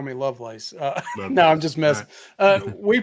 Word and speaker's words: Lovelace: South they call me Lovelace no I'm just messing we pronounce it my family pronounces it Lovelace yeah just like yeah